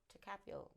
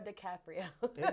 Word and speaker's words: DiCaprio: One battle after another with Leonardo DiCaprio. Did I say his name right? Nope. Leonardo DiCaprio.